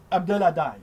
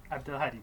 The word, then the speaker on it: Abdelhadi: Et je suis en présence d'un nouvel ami, un surréaliste que je présente, j'espère bien le prononcer correctement, Abdelhadai. Oui, Abdelhadi, c'est parfait.